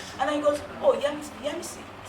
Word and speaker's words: Yemisi: Well, and I said, it's Yemisi. And he goes, and then he calls me Yesmi. And I said, no, it's not Yesmi because the S is before, after the.